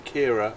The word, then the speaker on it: Ciara: Storm Kira, I think they've been pronouncing it on the news, has been causing a bit of a kerfuffle, that's for sure.